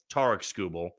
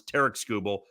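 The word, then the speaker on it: Tarik Skubal: this because it's funny I've heard Tok scoble TK scoble tar scoel I think I've called him tar scoel the most I got corrected in the comments TK scoel so however you pronounce it and I've also heard scub which I don't feel like is correct either TK scoel is what we're going with but that doesn't really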